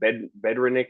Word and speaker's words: Bednarik: Bedrenick or whatever, the Oh, old Bednarik, Eagles.